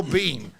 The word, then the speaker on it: Biehn: I really love Michael Biehn Awareness Day. Like, it's pronounced Bean. Just here, bullet points. This is Michael Biehn. It's just pronounced Bean like Mr. Bean.